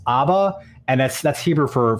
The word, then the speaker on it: Abba: that but the release is called is actually pronounced Abba and that's that's Hebrew for for father so